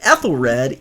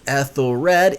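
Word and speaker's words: Ethelred: now if we read ethyl red e-t-h-e-l-r-e-d eight letters three syllables ethyl red it's exactly parallel to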